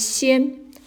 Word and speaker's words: 仙: It's pronounced as 仙, a person in the mountain.